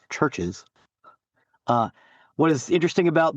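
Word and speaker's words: CHVRCHES: Uh it is pronounced Churches.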